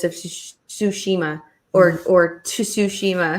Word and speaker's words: Tsushima: it sweetie you can he pronounces the tea whenever he speaks quickly so he's like - she MA and I'm RT Moreau it's like it's soo Shema sushi but yeah so and